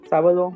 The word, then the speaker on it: sábado: La destreza, te van a mencionar que es una estrújula y como es una estrújula, tiene que llevar un acento en la sílaba antepenúltima, etcétera, etcétera.